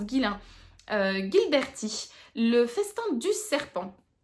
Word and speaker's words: Ghislain: Et du coup, j'ai choisi de sortir de ma palle un livre de Ghislain ou Ghislain, je sais pas, je pense que ça se prononce Ghislain, Gilberti, Le festin du serpent.